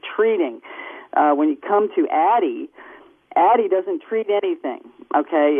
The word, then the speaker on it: Addyi: Nobody knows how to pronounce the darn new drug, the new female Viagra drug called ADDYI. How do you pronounce that, by the way? Addy.